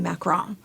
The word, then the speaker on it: macaron: F I've always been told French has me macaron yeah um but that's how I differentiate when